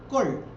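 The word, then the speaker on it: כל: kaf y la lamed, porque como la consonante tiene su propio sonido vocálico, entonces se le da el sonido de O a la kaf, y entonces suena kol.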